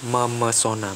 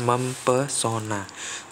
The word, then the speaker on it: memesona: Jadi, ketika kalian memberikan awalan me dengan kata pesona, jadinya akan menjadi kata memesona, bukan mempesona.